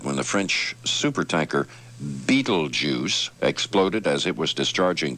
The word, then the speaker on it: Betelgeuse: 50 people died when the french super tanker beetlejuice exploded as it was discharging crude oil at the gulf oil terminal in ireland's battery bay and it's spelled b-e-t-e-l-g-e-u-s-e is the pronunciation that's the star betelgeuse and